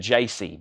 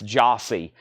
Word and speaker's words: Jyasi: Jossie, thank you for, that's the name of the album, like pronounced Leonard Skinner, and it's Jyasi. I probably would have said JC, but it's Jossie.